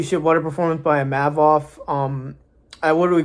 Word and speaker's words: Imavov: And it's Imavov, by the way.